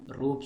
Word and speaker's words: Roop: Fourth one, Roop Singh Stadium. See friends, the first four letters is ROOP. Its pronunciation is similar to rope, rope, rope, rope, rope.